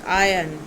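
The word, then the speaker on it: iron: अब आयरन को हम बड़ी देर से आयरन बोलते आ रहे हैं, बट ये आयरन नहीं है, इट इज़ आयन. आयन. आर is silent. आयन.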